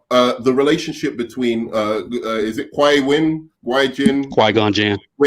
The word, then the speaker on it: Qui-Gon Jinn: All right, so we've got the relationship between is it Qui-Gon Jinn? Qui-Gon Jinn. Qui-Gon Winn. Okay, so we've I got got him. It's 3 syllables, nerd man.